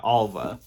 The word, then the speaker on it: Alva: mispronouncing it in the yeah alva i kept calling her alma in my reading vlog